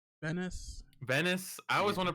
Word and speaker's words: Venice: visit it what's mantas like what how's it pronounced Venise you said Venice Venice I always want to pronounce it Venise